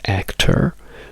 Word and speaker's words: actor: It's actor, dove abbiamo questa R forte, ma la O diventa comunque un chois.